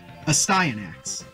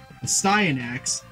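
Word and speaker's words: Astyanax: why I know that this next name is pronounced a sty enacts a sty in acts used to be an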